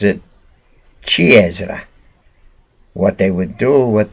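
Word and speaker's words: ciciri: the word is beans the french pronounce it c h with a k kiasra the italians pronounce it chi ezra what they would do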